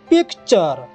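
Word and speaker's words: picture: এনছি সে ঠিক আছে সজেন ঠিক আছে তারপরে পিকচার দেখো পেলাম 18 টি আর ইচ্ছি ঠিক আছে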